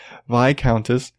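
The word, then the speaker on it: viscountess: heard it vai countess there's an S I've heard you don't pronounce yes whatever vie countess has requested permission to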